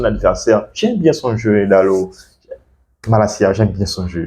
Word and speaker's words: Dalot: Donc Diego Dalot, comme disait le commentateur, ça s'écrit Dalot, mais on prononce Dalot comme un O ouvert.